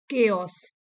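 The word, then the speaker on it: chaos: इन a world full of केओस। यहां pronunciation लिखी है केओस।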